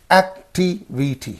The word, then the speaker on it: activity: So here you see that how activity. So 3rd syllable, anti-penultimate. So ity is the suffix. Where is this suffix? in this syllable and in this syllable. In these two syllables, this suffix is there. And what will be the syllable preceding the suffix means only this one. So we have to say activity. Activity. You have to say activity. Don't say activity.